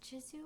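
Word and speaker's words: Gisou: hair such as gizzu is it pronounced jizu or gizzu I think it's gizzu I'm going to say gizzu they make a really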